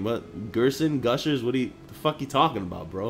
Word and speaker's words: Gerson: in real life it's g e r s o n Gerson gersan however you want to pronounce it right during class he